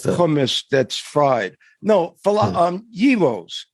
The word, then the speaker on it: gyros: that's fried no um heroes is how you say it okay heroes anyway remember